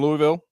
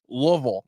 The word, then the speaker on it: Louisville: and say it right Louisville and everybody went well Louisville we are thrilled to be in Louisville yeah they dropped the whole midsection of the word I was uh a